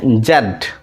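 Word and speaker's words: Z: হচ্ছে ওয়াই ওয়াই ওয়াই তারপরে হচ্ছে এটা হচ্ছে জেড জেড জেড তবে আমেরিকান আমেরিকান ইংলিশে এটাকে জি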